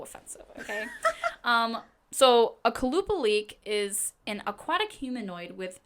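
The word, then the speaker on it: Qalupalik: told me it's pronounced kalupa leak but it's spelled like with a Q so it's like it looks like it's supposed to be like but it's actually kalupa leak I like that so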